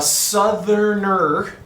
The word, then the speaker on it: Southerner: This is a Southerner. I'm going to add that extra syllable because back then it was called a Southerner Jumbo.